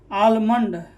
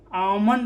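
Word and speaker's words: almond: आलमंड, तो आलमंड ये नहीं होता है, आमंड होता है, ठीक है। ये क्या होता है, आमंड। कितना इसको आलमंड बोलते हैं, लेकिन आमंड होता है शुद्ध, ठीक है।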